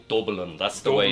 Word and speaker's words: Dublin: And I like the way you say Dublin. That's the way it's pronounced the right way to say it, right? Dublin, h the capital of Ireland.